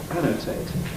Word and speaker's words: annotate: on the other hand with annotate three syllable verbs in at typically get anti stress so on the a annotate well now this T is it aspirated annotate yes it is somewhat strangely why is